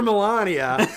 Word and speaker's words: Melania: Melania.